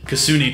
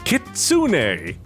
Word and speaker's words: kitsune: twinkie twins and you're the kasuni twins kitsune it's quite easy dummies you know what she